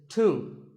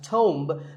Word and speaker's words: tomb: A similar sounding word is tomb. It's often wrongly pronounced as tomb, but the B is silent and the O is pronounced with an oo sound. So tomb.